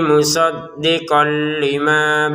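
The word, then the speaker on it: مُصَدِّقًا لِمَا: Untuk kata musaddiqon bertemu lam kita masukin ya dengan ke lamnya kemudian tanpa dengungan. Musaddiqon lima. Jadi jangan dibaca musaddiqon lima, itu kan jelas. Atau dibacanya dimasukkan ke lamnya tapi tidak dengung. Tapi dengung, mohon maaf, tapi dengung musaddiqon lima ya salah. Jadi kayak gini tanpa dengungan ya.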